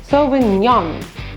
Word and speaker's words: Sauvignon: The G-N-O-N, it's actually quite a tricky one. So it's Sauvignon.